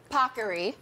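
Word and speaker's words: paccheri: the Today Show team made sure I pronounced properly pockery we have our Italian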